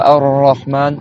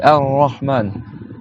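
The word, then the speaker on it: الرحمن: Et en arabe, il faut pas le faire rouler. C'est-à-dire qu'il faut le tenir un peu pas qu'il roule. C'est pas Ar-Rahman, c'est Ar-Rahman.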